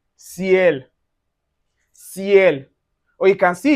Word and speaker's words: ciel: Anywhere you see Y plus voyelle in one syllabic word. For instance, you can see it in "ciel".